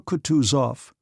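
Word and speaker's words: Kutuzov: "General Kutus off," said Bulksky, speaking French, and stressing the last syllable of the general's name like a Frenchman.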